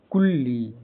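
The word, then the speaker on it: coolie: जैसे सी ओ C double O D double O एल आई ई कुल्ली यहां कुल्ली सी C double O एल आई ई एल इ का उच्चारण साधारणत इ होता है।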